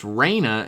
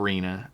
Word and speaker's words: Raina: For reference, it's pronounced Raina and not Rena.